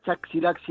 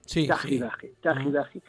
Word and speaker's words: Chaxiraxi: la X se pronuncia Chaxiraxi ahora, pero antes era Ji, era el sonido J, Chajiraji, esta que sostiene y me alumbra la luna, que está como suspendida, ¿no?